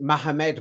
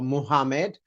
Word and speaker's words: Muhammad: Yeah, so you could pronounce it Mohammed, Mohammed, or Muhammad, however you want to.